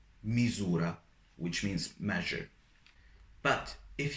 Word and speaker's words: misura: So when it is in a middle of a sentence between two vowels, you pronounce it as Z, Z. For example, misura, misura, which means measure.